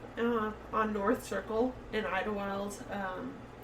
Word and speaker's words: Idyllwild: w i l d so it's not how you would phonetically spell it but it is yeah okay um and then we're just up uh on North Circle in Idlewild um right outside like